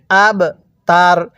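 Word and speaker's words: الْأَبْتَرُ: এরকম ভাবে পড়তে হয় আব তার র এর উপর পেশকে বাদ দিয়ে দিব এখন আমরা এই বা এর মধ্যে ধাক্কা দিয়ে পড়বো কারণ বা টা হলো কলকলার হরফ তাহলে কিভাবে পড়বো হুয়াল আব তার এরকম ভাবে শিখবো এবার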